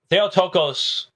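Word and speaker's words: Theotokos: Now I would normally pronounce the but given the ecclesiastical usage in Rome and Eastern Orthodoxy I've just decided it's easier to go with the modern use and I'll I'll deal with the pronunciation issues later. Theotocos in the is the modern pronunciation um means godbearer and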